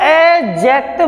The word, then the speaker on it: adjective: वैसे इसको एडजेक्टिव बोलते हैं, एडजेक्टिव डी साइलेंट होता है, लेकिन समझने के लिए हम एडजेक्टिव सुनते हैं सभी से।